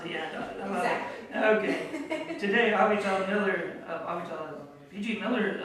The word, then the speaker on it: Avital: Avital. Avital. With more of an emphasis on the end. Exactly. Okay. Today, Avital Miller of Avital PG Miller LLC presents Full-Bodied Biz Success.